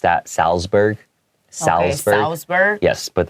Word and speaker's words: Salzburg: So here in American English, I would have pronounced that Salzburg. Salzburg. Okay, Salzburg. Yes, but the German pronunciation is closer to Salzburg.